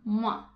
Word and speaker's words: moi: E a expressão moi aussi se escreve com OI, então esse OI tem som de UA, moi.